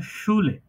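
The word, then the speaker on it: Schule: স হয়ে যাবে এসহা এস সিএইচ একসাথে থাকলে সেটা উচ্চারণ তালেব এর মত যেমন শুলে শুলে শুলে মানে স্কুল ওকে রনি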